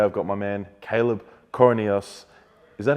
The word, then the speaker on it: Coroneos: Today I've got my man, Caleb Coroneos. Is that how you say it? Coroneos, yeah.